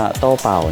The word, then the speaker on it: Doubao: นะ น้อง ชิเกน นะ นี่ น้อง โต้ เป่า นะ นี่ ออก เสียง เป็น ภาษา จีน ว่า โต้ เป่า นะ เพื่อน ๆ น่า